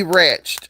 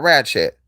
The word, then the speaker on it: ratchet: That has to be ratched. I don't do ratched ass people. Not ratchet. Yeah, ratchet is a is a um is a tool for sure. Let me see. Um Oh my god, it is ratchet.